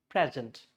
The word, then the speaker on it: present: So like if you say present as a noun, that means present. Present is a gift, but if you say present, it's a verb, like prastut karna.